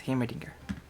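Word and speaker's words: Heimerdinger: my final answer you are correct it is hamerdinger i have no idea is he still good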